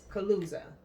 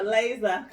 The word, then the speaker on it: chalaza: It's no longer sperm, but you have the correct Chalaza. pronunciation. Chalaza.